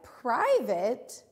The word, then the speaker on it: private: But in a word like private, we don't hear that same A, long A sound. We hear what almost sounds like an it, an I.